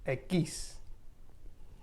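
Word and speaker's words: equis: and ube doble and x in spanish is aquis then y is igriega now we have z and this is pronounced so you won't ever make the z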